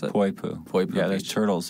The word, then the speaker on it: Poipu: How do you pronounce it? Poipu.